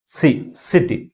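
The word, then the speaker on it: city: ఎక్కువ ఫోర్స్ గా పలుకుతుంది ఫస్ట్ సిలబలే సెకండ్ సిలబల్ కంటే ఎక్కువ ఫోర్స్ గా పలుతుంది ఏదది సిటీ ఓకే కాబట్టి ప్రైమరీ స్ట్రెస్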